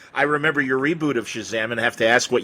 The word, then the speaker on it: Shazam: Captain Marvel's magic word I pronounced it uh Chasm I never said Shazam even though now I see that's a more obvious pronunciation you know but I